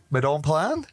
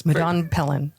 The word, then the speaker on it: Madone Pelan: Our guest Madon Pan. Yes. Did I Did I pronounce that right? Very close. Madon Pelen. Pelen. Yes. Yes. Everybody wants to say Palin.